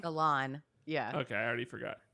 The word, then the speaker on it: Elan: Do you remember how to pronounce it still? Elan. Elan.